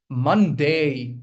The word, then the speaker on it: Monday: So the primary stress lies on the first syllable. Okay. Monday. This is the diphthong I was talking about. Okay. It's Monday. All right. That's how you're going to pronounce it. A at the end.